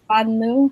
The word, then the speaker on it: banlieue: Amine, you brought up the lower income neighborhoods, and I don't want to mispronounce it. I think it's banlieue.